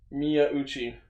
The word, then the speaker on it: Miyauchi: It was Hiroshi Miyauchi. Yeah, I can never pronounce his last name. Miyauchi.